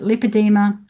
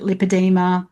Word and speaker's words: lipedema: So even the name is tricky the disease is tricky but just so you know you can pronounce it lipadeema or lipadeema. I pronounce it lipadeema because that's how I learned it.